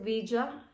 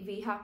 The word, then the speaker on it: Veja: So ito Iyung shoes I think you pronounce it Vi Hindi viha kasi feeling ko nung